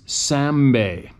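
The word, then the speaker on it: Sambe: I'll remember it it is champagne spell s-h-a-m-p-e pronounce sambay Sam e sounds awfully familiar to those sorry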